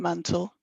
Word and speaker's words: Mantell: as we can tell Thomas may have pronounced his name mantel as he is listed as such in places what then do we